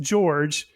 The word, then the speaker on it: Jorge: You were telling us before we started recording, but it is spelled Jorge, but pronounced George.